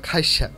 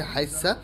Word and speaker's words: খাইসা: ছিলাম খৈসা বা খাইসা, এটা হচ্ছে চট্টগ্রামের একটা স্পেশাল আইটেম। সিমের বিচিকে চট্টগ্রামে খাইসা বলা হয়, চাটগাঁয়ে উচ্চারণে এর নাম হচ্ছে হাইসা।